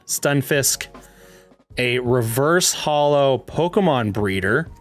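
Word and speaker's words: Stunfisk: bulbasaur boy uh a skun how do you say skun it's stun stun fisk a reverse holo pokemon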